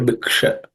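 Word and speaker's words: भिक्षा: This bhi is also from the fourth letter in the per class of sounds, so per varga. So it has to be aspirated. Bhi. The next letter is uksha, bhiksha. That sha is cerebral sha, where the tip of the tongue should point to the roof of the mouth. Sha. Okay, bhiksha.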